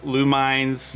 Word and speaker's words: Lumines: Apparently people pronounce Luminesz. Uh including Lumines.